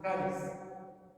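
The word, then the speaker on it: χάρις: Bien, la gracia viene de una palabra griega, como la encontramos en el Nuevo Testamento, una palabra griega que es charis, con J y acento en A, charis.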